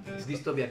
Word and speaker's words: distopía: No, es distopía, es como utopía, pero algo...